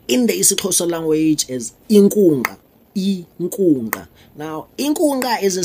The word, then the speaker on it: Inkunkqa: Now, Inkunkqa is pronounced Inkunkqa.